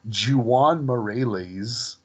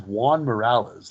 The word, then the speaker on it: Juan Morales: to pronounce that so they just say it the way it's spelled and that's not correct so when the principal comes in and she introduces him as Jan moreles um like it's very